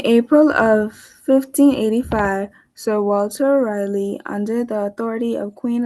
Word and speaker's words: Raleigh: It's actually pronounced Raleigh. Raleigh.